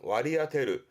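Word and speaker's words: 割り当てる: 업무 할당이라든가 나눠지는 할당, 발음은 와리아테르, 와리아테르.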